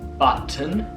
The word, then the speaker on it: button: And like for example, in the word button, in the American way, you don't really pronounce the 2T at all. So button, belly button. While in the British way, sometimes it's pronounced.